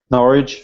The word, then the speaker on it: Norwich: norch is that right I say that right norch yeah make sure I said it wrong every